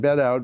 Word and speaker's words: Bedout: I'm pronouncing that Bedout because it's Western Australia, and my guess is it's not French.